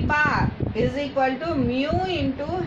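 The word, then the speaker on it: μ: Bar is equal to MU into H bar and this is represented and pronounce it as mu where mu is equal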